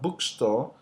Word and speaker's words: bookstore: And lastly, we say that compound will usually have the primary stress on the first element of the compound. So if I have aircraft, the stress is on the air. If I have bookstore, the stress is on the first one, book, and then the store is less stress.